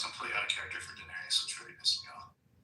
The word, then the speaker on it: Daenerys: I know, but I just like it's Daenerys.